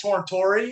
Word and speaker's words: Tortori: what's up everyone tortori it's a long e um we come from